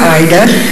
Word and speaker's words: Ida: The club is named for Ida, and it is pronounced Ida.